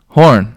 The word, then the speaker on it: Horn: Horn. Horn. Yeah, like the horn.